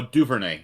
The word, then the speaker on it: Duvernay: name do uh Devin Duvernay yeah definitely Bernie uh oh Duvernay actually is how you say it I should say his